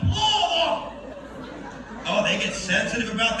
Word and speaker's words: Louisville: How do they say that? Yes, Louisville. Just put a roll in your mouth. Louisville.